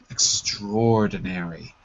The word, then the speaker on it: extraordinary: extraordinary extraordinary that's right I know it looks like extraordinary but we Collide it together extraordinary extraordinary perfect and there